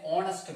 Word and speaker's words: honest: You should be an honest man. You should be an honest man. Honest. O sound.